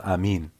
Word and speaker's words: Amen: arabischen oder sonst irgendwas wie wird das in dem Hebräischen ausgesprochen sowie Amin oder Armin Butter also auf aramäisch und Hebräisch sagt man Amin ja ich habe ja